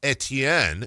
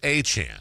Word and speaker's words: Etienne: So, it's not Travis Etienne. And he was remarking like, "Hey, now I'm in I'm in Louisiana. You guys know how to pronounce this." It's Travis Achan.